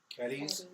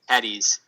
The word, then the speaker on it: Cadiz: name of your city Cades Cades it's c a c a d i z Cades all right all right